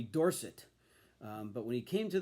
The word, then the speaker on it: Dorsett: The top card in the set, of course, has to be the rookie card of Tony Dorsett. Now, in college, he was called Tony Dorsett.